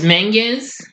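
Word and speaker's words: Menges: who is played by let me see Joyce Mingus that's how you pronounce that name they decide to investigate Arno's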